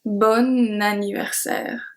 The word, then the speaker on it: bon anniversaire: But if I say BON ANNIVERSAIRE, I don't say "" I say BON ANNIVERSAIRE. The pronunciation is exactly the same for both. And that's because of the link.